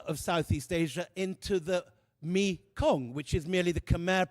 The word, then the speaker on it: Mekong: Shiva lingams and yonis are sculpted into the riverbed, turning the main river of Southeast Asia into the Mekong, which is merely the Khmer pronunciation of Ma Ganga.